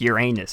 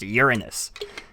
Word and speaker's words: Uranus: I do remember specifically one of my teachers saying it's not pronounced Uranus, it's pronounced Uranus, and I'm like, that's no fun.